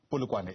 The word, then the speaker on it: Polokwane: Lebone live to us for Limpopo in Polokwane, I understand, or Polokwane in Limpopo is the right way to say it.